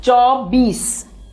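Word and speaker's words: चौबीस: 24 is said as chaubis. So chaubis. Now here sometimes the people say chobis.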